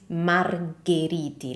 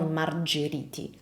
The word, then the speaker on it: Margheriti: In Italian, that H would change the sound of the C or of the G, like in this case, in a hard sound. So this is Margheriti, not Margheriti, Margheriti.